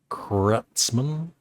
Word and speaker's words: Kreutzmann: Grateful Dead, Mickey Hart, and Bill Kreutzmann. That's how you pronounce it.